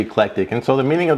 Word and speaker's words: eclectic: mispronounce it it's it's it's often referred to as electric Emporium but it's actually eclectic and so the meaning